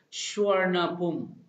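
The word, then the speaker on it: Suvarnabhumi: airport at 4:55 peon named Schwerner Bumi is pronounced as sure enough boom okay and the name is pronounced there's means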